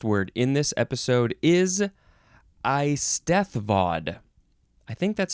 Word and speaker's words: Eisteddfod: Okay, the first word in this episode is Eisteddfod. I think that's how you say it. Eisted. You got to say that hard th.